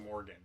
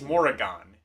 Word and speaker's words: Morrigan: Actually, it is probably just Morgan. No, it is Morrigan. Yeah, I'm like looking at how it's spelled.